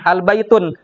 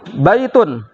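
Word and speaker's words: بيتٌ: nggak bakalan ketemu ya kalau ada yang bacanya al baitun salah itulah pasti salah 100% kalau sudah ada alif lam Berarti masuk ya hilang tanwin sekarang kita baca di situ ikuti baitun artinya apa tadi rumah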